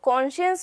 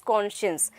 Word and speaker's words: conscience: So conscience means when something is there inside and you can make the difference between what is right and what is wrong. So that is conscience.